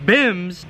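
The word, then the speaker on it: BYMBS: cody here hosting the b y m b s pronounced bims blow your mind bible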